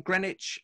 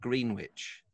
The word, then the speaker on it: Greenwich: And Anis, you're in Greenwich, and I know exactly where that is in southeast London.